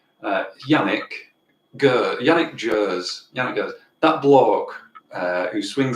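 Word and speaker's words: Yannick Gers: now and embarrass embarrassingly don't know how to pronounce his name uh yannick go yannick jers that bloke uh who swings his guitar rings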